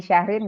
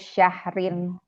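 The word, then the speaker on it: شَهْرٍ: Sampai sini sudah punya gambaran bahwa ini Syahrin gara-gara siapa ini? Gara-gara dia nggak ada al. Ada al. Berarti dia harus Syahrin. Nggak boleh ragu-ragu. Kebanyakan yang pada ragu-ragu bacanya. Betul. Khairun min alfi syahrin.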